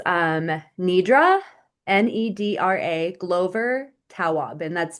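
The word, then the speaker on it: Tawwab: Yeah, it's um Nidra ne a Glover Taob and that's T A WWAB.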